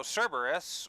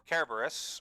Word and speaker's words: Cerberus: so fun fact uh so Cerberus or carus however you want to pronounce it both are actually technically correct depending on which region you're from so Caris or Cerberus